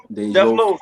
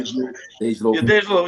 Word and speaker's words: DeJ Loaf: Def Loaf, right? Dej Loaf, yeah.